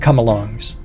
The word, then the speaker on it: come-along: work with slings and come-alongs a come-along pronounced without the hyphen and in three smashed together syllables while holding a Vernors